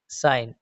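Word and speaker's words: sign: इसी तरह से डिज़ाइन campaign साइन। Next word है हमारा एस साइलेंट कब होता है?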